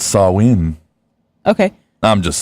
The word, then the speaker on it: Samhain: back as far as pronounce saw ween okay I'm just saying